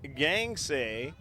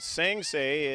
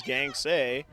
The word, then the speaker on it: Gangsay: Savannah Gangsay is a proper pronunciation. If I pronounced it Sangsay, it is incorrect. It is Gangsay.